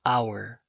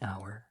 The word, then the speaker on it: hour: A or an hour. Is it a hour or an hour? Well, it's an because the H is silent, so it follows a vowel sound after it.